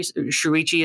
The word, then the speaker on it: Shuichi: Is that I think it's Sichi is how you Shuichi is how you say his name.